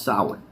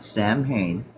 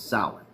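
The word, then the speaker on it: Samhain: This is pronounced sour, not Sam Hayne. It's not a first nor a last name. It's sour.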